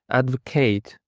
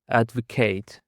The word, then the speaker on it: advocate: And actually it is pronunciation depends on whether it is a noun or a verb. For example, if advocate is used as a verb, it's pronounced like advocate.